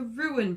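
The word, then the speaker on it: Ruen: to talk about the ruined Brothers I don't know if it's actually pronounced ruin because it's are you en and what it is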